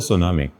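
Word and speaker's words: tsunami: है वो होता है सुनामी। टी लिखा जाता है, बोला जाता है टी साइलेंट होकर, सुनामी बोला जाता है उसे।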